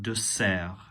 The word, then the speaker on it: dessert: Notice just the pronunciation of dessert is not with a Z sound as in English. Un dessert.